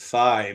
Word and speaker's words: Phi: Americans pronounce it fi, but you're pronouncing it fe like the Greek people do.